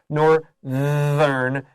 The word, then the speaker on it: northern: in their home um because the word north bay that th has that unvoiced consonant north but when we make it this adjective nor learn that you have to voice the th or it's inaccurate we'll still understand it